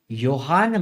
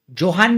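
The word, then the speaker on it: Johann: हु इज the Pioneer of modern genetics, तो modern genetics किसने develop किया, हमारे ग्रेगोर योहान मेंडल। जोहान नहीं है वो, उसका प्रोनाउंसिएशन योहान होता है।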